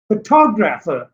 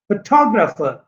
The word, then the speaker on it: photographer: फोटोग्राफर, फोटोग्राफर, फोटोग्राफर. नाउ यू सी the word this consists of 4 syllables. Second one is stressed in this word.